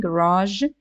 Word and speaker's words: garage: the word garage right we are pronouncing it with j at the end garage but the letter is